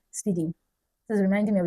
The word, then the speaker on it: SPDY: HTTP/2 was released on a Google experiment called SPDY, pronounced speedy.